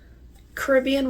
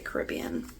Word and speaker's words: Caribbean: you know, Caribbean waters or Caribbean waters, however you'd like to pronounce it. I'd say Caribbean.